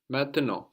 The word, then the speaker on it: maintenant: main, and then nant, the N there on the end. So those are swallowed up into the nose. And we have the final T totally silent as well. So we end up with maintenant or maintenant.